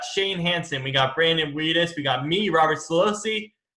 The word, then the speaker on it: Widdis: Widdis. Widdis? Widdis.